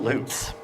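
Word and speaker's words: Lupe: you'll you'll probably notice a pattern oops all loops and yes it's pronounced Loop there's an official pronunciation guide in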